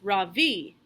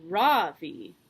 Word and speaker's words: Ravi: first name is ravi it's pronounced ravi with a soft raw and a strong v in sanskrit it means the sun in america people call me ravi with the stress on the first syllable that doesn't mean anything